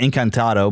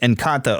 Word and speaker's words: Encanto: I think I keep wanting to call it Encantado, but it's just Encanto or whatever.